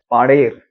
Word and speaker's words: Padreh: जाता है वह है पांडेर और इंग्लिश में इसका इस गांव का स्पेलिंग है पी ए एच आर ई डी तो अगर